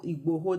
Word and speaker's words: Igboho: I think that's the correct Igboho. That's the correct pronunciation.